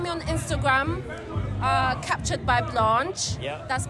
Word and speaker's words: Blanche: But you can find me on Instagram, Captured by Blanche. Yeah. That's B-L-A-N-C-H-E. Others say Blanche. Americans say Blanche.